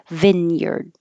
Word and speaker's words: vineyard: just grape vine but this one looks like Vine and looks like yard but neither of them sound like that now the Vine sounds like Vin and the yard sounds like yur like her so vinard there are grape vines